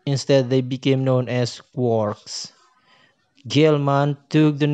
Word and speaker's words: quark: in finnegan's wake three quarks for master mark discriminate discriminating physicist rhyme the word with storks not larks even though the later is almost certainly the pronunciation joyce had in mind the fundamental simplicity of